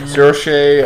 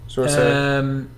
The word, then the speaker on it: Saoirse: And, Saoirse, I think is how you say it. Sorcerer Ronan. Saoirse.